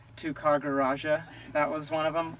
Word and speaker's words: Tyagaraja: came out like this: Tyagaraja, Mr. Tyagaraja. Yeah. So the roll of the R is most difficult for the Western tongue, but yeah, other people have said. They pronounce it phonetically by saying Tyagaraja.